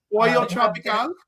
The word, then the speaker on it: Pollo Tropical: I had guava barbecue sauce at, and I think I'm pronouncing this right, Polo Tropical. I believe I'm giving the accent correctly on that. Pollo Tropical?